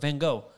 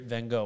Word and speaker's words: Van Gogh: What's your favorite Van Gogh? What's your favorite, or Van Gogh, if you want to pronounce it right?